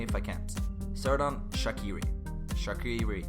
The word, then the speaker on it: Xherdan Shaqiri: Shaqiri is the way I say it. Almost Shakira, but Shaqiri.